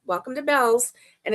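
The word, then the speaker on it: Bealls: bell on it because it's pronounced bells, not bees. A lot of people think that it's bees because it's EA, but it's not. It's bells and um and I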